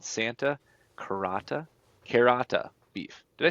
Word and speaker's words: Carota: an operation called Santa Carota Beef. Did I say that right, Justin? Santa Carota. Carota! Yeah. I was trying to say it like a carrot, but it's a long O.